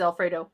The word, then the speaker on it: Alfredo: Actually, his name is Alfredo, but nobody calls him Alfred.